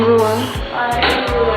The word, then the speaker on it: Ruach: The CH is silent. Have fun, guys. But just call me Ruach.